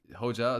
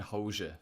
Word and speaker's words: Hoca: I think it's actually like Hoja or something like that, but I can never pronounce it correctly. Hoca? Oh, Like, Hoja, is that how you say it?